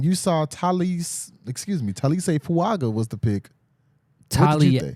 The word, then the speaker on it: Taliese Fuaga: ways so when you saw tal excuse me Talis say fuaga was the pick tal tal fuaga that's what I was told today tal fuaga got get get your pronunciation guides ready and U understand that it's